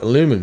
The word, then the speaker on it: aluminum: going to call it aluminum. So this is a strange case of the Americans actually have the original pronunciation, and the English are the ones that have changed it, going with the changed version.